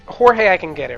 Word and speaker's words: Jorge: Okay, my name's Jorge, right? And it's spelled J-O-R-G-E. But It's not I have George. Huh? It's not George. No. It's not even that I get George. I've gone Gorge. I gone Horgi. I gone Gorg.